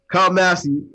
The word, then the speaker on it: Kyle Massey: stuff first we got kyle massey that's how you say his name kyle massey uh hurry in the